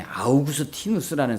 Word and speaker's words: 아우구스티누스: 교부 중에 아우구스 티누스라는 사람이 있어요. 아우구스 티누스.이 이 아우구스티누스 영어식 발음은 어거스틴인데이 아우구스티누스는 은총의 박사예요.